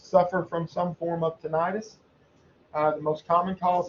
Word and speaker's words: tinnitus: auditory cortex uh tinnitus this is a word that i have pronounced tinnitus uh forever uh but recently i've heard people starting to pronounce it tinnitus uh i'm going to continue to say tinnitus uh this is the